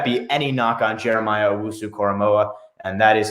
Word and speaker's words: Owusu-Koramoah: So Micah Parsons, but don't let that be any knock on Jeremiah Owusu-Koramoah, and that is how you say his name.